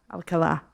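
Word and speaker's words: Alcalá: I say Alcala or Alcala. Accent is on the last A. Oh, okay. Yeah. Alcala.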